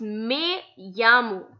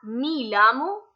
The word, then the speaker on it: me llamo: It's not mi llamo, it's me llamo. Now why me llamo? What's the reason behind it? So E in Spanish is pronounced as AY and double L is pronounced as Y.